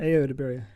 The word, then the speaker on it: Ayo Edebiri: Ayo Edebiri. I heard her say it's Ayo Edebiri.